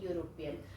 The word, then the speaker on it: European: Okay, the word is pronounced with YU, a European, and that's why you can see I have put a here in front of the vowel sound.